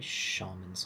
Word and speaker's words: shaman: For shamans like you, this is your lot. Shamans. Shaman is how we pronounce it in the UK, I believe. Shaman in America.